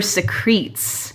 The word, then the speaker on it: secretes: And I think it's actually more like her secretes. Oh, it's spelled like secretes.